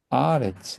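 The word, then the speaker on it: ארץ: 그래서 이 경우는 이제 칼이 아니고 콜 뒤에 에레츠. 자, 에레츠 하면 땅이죠. 에레츠인데 이제 문장이 끝날 때 강세가 강하게 옵니다. 그래서 에레츠인데 아레츠 이렇게 발음이 아로 바뀐 거고요.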